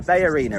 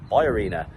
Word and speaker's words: BayArena: to the B Arena I kept saying the Bay Arena in English that's how we'd say it but apparently it's pronounced by Arena because you've read the title we're here for